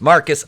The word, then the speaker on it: Marquis: it's time to put marquis pronounced marcus on ice [ __